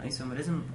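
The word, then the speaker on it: isomerism: خلينا نرجع للكلام المفيد دلوقتي، هنتكلم في حاجه اسمها ايه، في حاجه اسمها اوبتيكال ايسوميرزم، ايسو او ايزو بالاس او بالزد، هو الايزو النطق الاساسي بتاع، لكن ايسوميرزم صح برضه.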